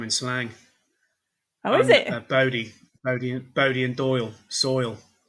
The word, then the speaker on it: Bodie: It is pronounced Bodhi, isn't it Aaron?